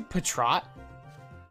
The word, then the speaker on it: Patrat: Wait, you say Patrat? That's how it's said. It's spelled Pat Rat. It's a rat. It's a rodent. But the official sayings call it Patrat.